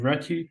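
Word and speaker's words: Réti: the previous slide is known as the reti opening and it sounds like ready and that's where the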